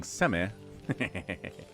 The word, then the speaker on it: Semih: Semih. You can pronounce the H by saying Semih.